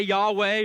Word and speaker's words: Yahweh: But in Hebrew, it's pronounced Yah-hey-vah-hey. Some people would say Yahweh or Yahweh, but there's ancient priests that they would not even pronounce this name at all.